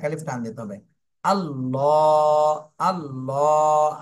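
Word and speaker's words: الله: মোটা করে পড়তে হবে আল্লাহ শব্দের লামকে মোটা করে পড়তে হবে এরপরে লামের উপরে খাড়া জবর রয়েছে মদের হরকত এজন্য এক আলিফ টান দিতে হবে তাহলে প্রথমে মোটা করে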